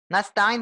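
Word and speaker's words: نستعين: Nah itu dia tuh nastain diulang Bu n nah pakai Sin tadi sebelumnya ibu pakai I pakai SH lebih lebih bulatnya ke SH ya antara SH dengan Sya ya Silakan diulang iyaka iyaka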